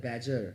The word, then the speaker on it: badger: बैजर का मतलब BADGER, ये डी साइलेंट रहता है, इसे बोलते हैं बैजर।